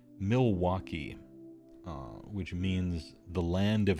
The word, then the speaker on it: Milwaukee: You believe it's pronounced Miles Wakay, which means the Great Land. It's pronounced Milwaukee, which means the land of hack frauds.